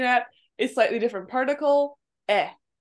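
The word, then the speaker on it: へ: Now we're going to be looking at a slightly different particle, eh. It looks like a he, but it's pronounced as eh.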